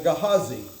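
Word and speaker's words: Gehazi: Gahhesi or Gahazi probably is the closer pronunciation, but I've said Gahhesi since I was that tall. So, it's going to be Gahhesi. So, Gahhesi his servant is commissioned.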